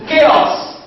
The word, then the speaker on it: chaos: cat Asing cage cage you can realiz by letter ch ch has in chaos chaos chaos it can beiz by letter CH again as in character character character so CH realiz work